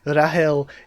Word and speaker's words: Rachel: Rachel like it is Rahel in Korean. That's what it is in Japanese, and for that translation, the original Hebrew, the original Hebrew name is probably pronounced like Rahel rather than Rachel.